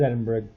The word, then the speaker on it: Edinburgh: as black this is Sparta no this is Edinburgh whereas they pronounce over there Edinburgh what a [ __